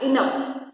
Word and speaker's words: enough: So here GH is there but we are getting sound of F enough.